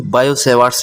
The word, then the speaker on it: Biot-Savart: Hello students इस lecture में हम आपको बायोट-सेवार्ट्स लॉ फ्रेंड्स इसमें टी साइलेंट होते हैं, बायोट नहीं बायो-सेवार्ट्स लॉ होता है ना।